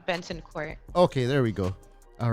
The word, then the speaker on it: Bentancourt: i've been you know is it banting court or bannon court you did a great job benton court okay there we go